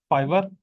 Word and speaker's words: Fiverr: इसके स्पेलिंग क्या है? FIVERR, फाइवर।